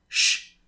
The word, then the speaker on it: je: So, je is often pronounced sh.